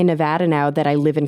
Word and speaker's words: Nevada: Yeah, so we say it similar to attitude, but everyone else says it with like the ah sound. Yes. Yeah. And so I was saying, I think I say Nevada now that I live